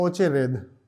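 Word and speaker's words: очередь: और वहां क्या बोलेंगे? ओचे रेद। ओ चे रेद। ठीक है? ज्यादा द का आवाज नहीं लगाएंगे क्योंकि यहां पे ये लगा हुआ है।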